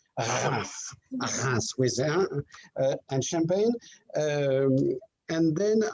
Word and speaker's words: Reims: That's how we pronounce Reims with and Champagne.